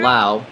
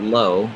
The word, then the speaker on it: Lowe: in order so far brandon lau not low as i've mentioned here